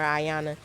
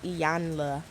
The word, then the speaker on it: Iyanla: pronounce her name because I was calling her Ayanna and I think I call her Ariana in my last video it's iyanla we was watching iyanla fix